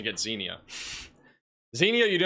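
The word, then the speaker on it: Xenia: Zenia, I have to keep going to Google pronunciation to get Zenia.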